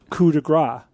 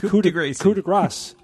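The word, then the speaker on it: coup de grâce: But people just think you always don't pronounce the S at the end of French words, but it's not true.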